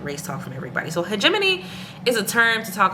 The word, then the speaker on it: hegemony: And hegemony, let me see how Google actually pronounces it. I was right. Hegemony. I've also heard hegemony. Oh, you can also say hegemony. I'm looking at the pronunciation breakdown.